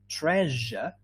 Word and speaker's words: treasure: woman mentioned before yes it rhymes with pleasure so is it treasure